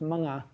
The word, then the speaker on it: mga: Um in Tagalog, the plural morphe is pronounced ma.